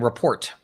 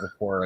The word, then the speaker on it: rapport: And yeah, it it's it's building report, but I call it report by the way, not rapport. It's I'm a French pronunciation.